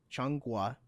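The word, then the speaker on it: 中国: several Chinese languages but I think it's Mandarin where they refer to China as and excuse my pronunciation but Chang Gua is how they say China you're excused I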